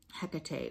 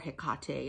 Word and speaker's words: Hecate: dark moon or new moon very similar to hecate or hekate as some people pronounce it phase dark oh i already said